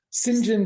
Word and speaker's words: St John: appropriating an Indian name I didn't realize it was just how they were going to pronounce St John yeah i' never heard